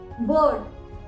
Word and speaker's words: bird: एक और एग्जांपल देखिए, बर्ड, बर्ड, BIRD, बर्ड। यहाँ पर आर के बाद कौन सा साउंड सुनाई दे रहा है? ड का, ड का, जो कि अगेन एक कॉन्सोनेंट साउंड है, इसीलिए आर साइलेंट है, बर्ड।